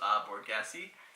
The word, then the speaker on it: Borghese: It was I believe it's pronounced Borghese.